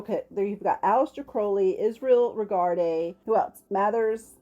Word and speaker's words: Crowley: I say this often remember kids Crowley rhymes with holy that's right holy Mr Crowley holy Mr Crowley that's